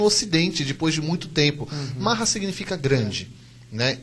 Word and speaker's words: maha: depois de muito tempo mahra significa grande né m a h a né o h no final ele vem como uma variante pra gente poder conseguir falar correto o sânscrito tá e lila né